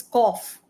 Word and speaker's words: cough: do true okay wait I'll just correct it's cough cough all right plow plow plow though do